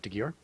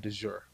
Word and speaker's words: de Gyor: de Gyor. de, how do you say your last name? De Gyor. De Gyor. Okay. Mm-hmm. I think I was saying de jure.